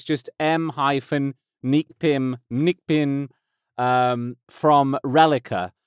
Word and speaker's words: Reliqa: No O in that, it's just M-Nique Pym, from Reliqa. Not Relique, not Reliqua, not Relique, Reliqa.